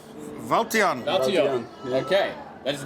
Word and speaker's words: Wouter-jan: your name for everybody uh my name is valon valon okay that is not how I was pronouncing in in any updates so I apologize